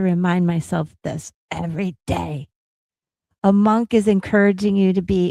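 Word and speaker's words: Amankh: And it's it's I believe you say a monk.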